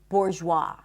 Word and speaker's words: bourgeois: The S is silent in debris, not debris, debris, and also in the word bourgeois. Bourgeois.